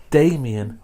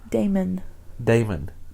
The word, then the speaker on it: Damon: So he's Vincent Damien Furnier. Damon. Yes. You added one too many syllables.